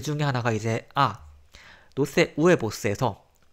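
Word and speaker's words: huevos: 하나가 이제 노세 우에보스에서 이 아체, 영어의 H에 해당하는 이 아체는 소리가 절대 안 납니다. 그래서 항상 얘는 그냥 무시해주면 되고, 읽을 때. 또 영어랑 또 차이점이, 이제 영어는 B하고 V하고 발음이 다르잖아요. 근데 스페인어는 둘이 똑같아요. 그래서 둘 다 우리말의 비읍처럼 읽으면 됩니다. 그래서 얘는 우에보라고 읽으면 되고요.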